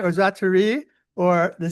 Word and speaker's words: Sztaray: sounded like a like zatai or zati or the Z is silent. It's an E. A Z is silent. So I would say think of a ray of stars and star ray star.